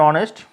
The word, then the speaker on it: honest: And here is same, we pronounce it eur, euh. And honest, aw, okay.